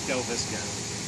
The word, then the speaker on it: Delvisico: if I got the spelling, but how do you pronounce it? Is it Delvisico? Delvisico.